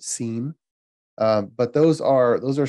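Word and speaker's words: SIEM: information event management systems abbreviated you can pronounce it scene but those are those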